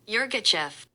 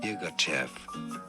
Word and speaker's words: Yirgacheffe: I believe locally in Africa it's said as Yirgacheffe. Okay. Yirgacheffe. Now, in the UK in particular, it's often said as Yirgacheffe.